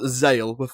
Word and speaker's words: Xale: But his original name was Zale, spelled with an X.